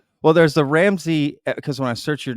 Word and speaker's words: Ramsay: if there was some I think they're pronounced the same uh mine's spelled like the chef yeah yeah and then